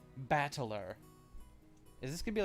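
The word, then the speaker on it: 戦人: This part is made up of the characters for fight and person, and it's pronounced battler.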